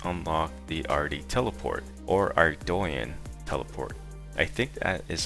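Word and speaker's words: Ardougne: But the way I used to pronounce it was Ardogan or Ardonan.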